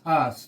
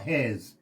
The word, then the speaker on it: Haas: Okay, it is Haas, not Has.